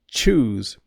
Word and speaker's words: choose: But when I say choose, it's like choose, chosen, chuck, chuckle. It's a ch sound, like TCH.